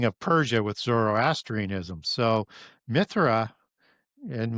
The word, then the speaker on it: Mithra: So Mithra and we pronounce that with a TH. The old Sanskrit Indo-Aryan would be no sound to the H. Mithra. Okay. So Mithra Mithraism is one of the main gods of Zoroastrianism.